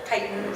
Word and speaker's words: chitin: it up to uh the pronunciation was kitten instead of chitin so all sorts of